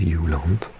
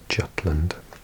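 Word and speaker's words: Jylland: So this is Yulant, often completely butchered and called Yut Jutland in English.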